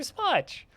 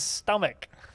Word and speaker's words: stomach: She's like, "Yeah, there's your tummy, your stomach, and your smotch." And she's like, "That's not how that word is pronounced. That word is stomach."